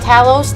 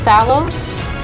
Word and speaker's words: Talos: It's Talos, not Thalos? What are you talking about? It's spelled the same way.